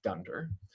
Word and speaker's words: dunder: special name um and it's typically pronounced in the python world as dunder so this would be pronounced as the thunder init file kind of like dunder mifflin from the office and the d stands